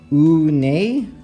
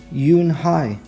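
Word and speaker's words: Unhei: "Oo-nay?" the girl asked, scrunching up her face. "Ooh-nay," some kids chanted. No, Yoon-hae corrected. "It's spelled U-N-H-E-I. It's pronounced Yoon-hae." "Oh, it's you-hey," the boy said, like you, hey.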